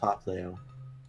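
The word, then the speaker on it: Popplio: the It's pronounced Poplio.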